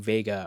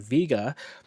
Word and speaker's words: Vega: Looking at this test session from Vega, or for those of you who like to pronounce it Vega, we can see the